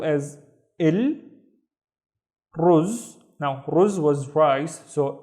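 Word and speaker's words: رز: So the first syllable is il, ruz. Now ruz was rice, so il ruz means the rice, and then har, har, which means hot. El ruz har, the rice is hot.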